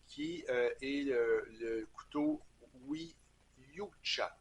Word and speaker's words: Yucha: est le couteau oui yucha je pense que ça se prononce comme ça c'est y u C